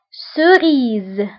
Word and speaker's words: cerise: الآن لا لتر سي إلا كان تبعها فويل أو فكنقراوها سو، سو. Exemple au mitel, une cerise, une ce, cerise.